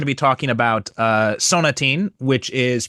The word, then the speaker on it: Sonatine: be talking about uh sonatin which is pronounced it's the same title in Japanese but it's pronounced in the Japanese katakana style. So it's sonach.